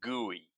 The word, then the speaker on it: GUI: we were going to bet on guey. Guey is spelled GUI and it stands for graphical user interface something like what Windows has or what the Mac has.